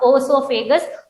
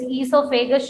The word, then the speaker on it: esophagus: So food pipe, esophagus, not oesophagus. O is silent over there, so it is esophagus should be pronounced.